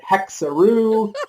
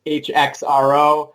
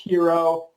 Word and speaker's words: HXRO: but i'm with you we've had people calling it hexaroof like kangaroo hex row they don't even try to pronounce it a lot of people just say the letters hxro but it is pronounced